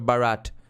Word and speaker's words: Bharat: One more fact, 99% foreigners can't pronounce the H in Bharat. Yes, that's of course Bharat.